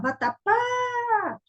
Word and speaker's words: vatapá: Aí você vai falar, vatapá! Ó, qual foi a sílaba que deu mais sonoridade? Foi o pá, não foi? Então, esta é a sílaba mais forte da palavra.